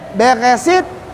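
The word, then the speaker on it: בראשית: Ini bacanya Beresit, Bara.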